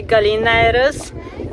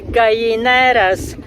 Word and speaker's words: Gallineras: heard of it's called the club nautical de gallinaires that's the English pronunciation as you know Double L in Spanish is pronounced as a e so that would be then a club nautical de gallenas and this Marine cost only 12 Europa night